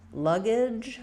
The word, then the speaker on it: luggage: So in luggage, we have first syllable stress. The two G's say the G sound, and this G says the J sound, just like in pedagogy that we were talking about before.